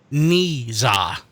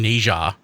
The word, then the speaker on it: Niza: The name is pronounced Niza. I've been saying Neja. It's Niza.